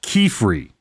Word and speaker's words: Qifrey: It cuz it it's spelled like Q I F R E Y. Mhm. Which they in the show in both languages pronounce Kiefery.